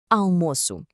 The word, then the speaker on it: almoço: of rice and beans, almoço. While the spelling might look kind of familiar, the sound is definitely unique. The beginning, al, isn't a sharp sound. It's this nice, wide open uh sound, almoço.